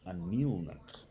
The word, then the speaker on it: Anirnik: And it is spelled Anirnik, but it's pronounced Anilnuk.